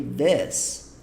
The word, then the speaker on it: this: Você percebeu que em nenhum momento eu falei this, como se fosse um I. Eu falei this, como se fosse um E. This, tá bom?